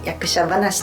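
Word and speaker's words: 役者論語: 役者論語と書いて役者話と読むようです。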